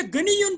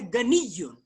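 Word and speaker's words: غنيّ: ये गनीयुन जो या है इसके ऊपर, इस या के ऊपर आखिर में तशदीद है, इसको पढ़ना है गनीयुन.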